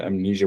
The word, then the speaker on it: Mnesia: When I say amnesia, it's spelled M nei.